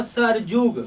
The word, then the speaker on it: सरयुग: रखेंगे य याद होगा सरयुग क्या होता है सरयुग लेकिन पढ़ते हैं इसको सरजुग क्या पढ़ते हैं सरजुग सरजुग पढ़ते तो यो का उच्चारण क्या होता है जो यो का उच्चारण क्या होता है जो जो हो जाता है यानी जो किसम